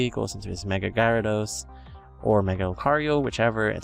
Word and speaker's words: Gyarados: do you say that it's not Gyarados because it's there's a gya it's not a silent a it should be Gyarados it should be Gyarados in Spanish and also against his